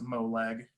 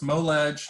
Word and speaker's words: MoLeg: Some people often pronounce it MoLeg, and that's funny. But it's MoLeg, hashtag MoLeg.